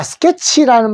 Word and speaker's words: sketch: 자, 스케치라는 말 요거 한번 잘 보십시오. SK, 스크에다가 에 소리죠. 스케에다가 요거 치입니다. 스케치인데 요 T 앞에 자 합쳐가지고 치를 소리 낸다고 하시고, 요 T는 묵음입니다.